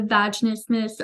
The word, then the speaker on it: vaginismus: I really want to hear about your experience in healing from how do you pronounce that? Vagina vaginis Vaginismus.